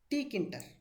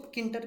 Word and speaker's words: Tkinter: इसको हम बोलते हैं टी किंटर। क्या बोलते हैं? टी किंटर। कुछ लोग इसको किंटर भी बोलते हैं, किंटर। टी remains silent. आपको जैसा बोलना है आप बोल सकते हैं।